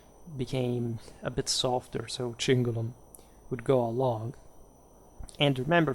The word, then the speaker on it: cingulum: particularly elaborated uh chinula chinula is the plural of chingum um I'm using by the way for today's video the ecclesiastical pronunciation because we're talking late Roman times so otherwise would have been kingulam but it's just you know here a convention that I use on the